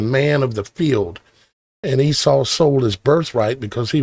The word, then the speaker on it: Esau: the generations of Esau, or Esav, as they say in Hebrew. Esav. We pronounce it Esau.